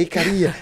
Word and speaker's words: Icaria: pessoal sempre briga né Não não é icária é icaria né pronúncia ainda é um